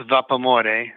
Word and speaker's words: Vapamore: Well, it's pronounced vapamore, which is the love of steam in Italian. And so if you say it in English, like how the word looks, it's vapamore.